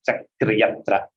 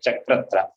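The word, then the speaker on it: चक्र्यत्र: Please note how to pronounce Chakriyatra. The Rebha also should be heard, and the yakara should also be heard. Many people tend to tell chakratra. The yakara is not heard. We shouldn't pronounce like that.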